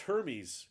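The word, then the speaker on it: Hermès: so it can't be luxury but um it's pronounced hermes got it thank you i'm sorry i have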